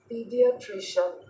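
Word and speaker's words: paediatrician: paid टशन इसको देख लेते हैं इसका जो स्पेलिंग है पी ए ई डी आई ए टी आर आई सी आई ए एन पीडियाट्र पीडियाट्र पीडियाट्र पीडियाट्र पीडियाट्र बोलेंगे पडि पीडियाट्र पीडियाट्र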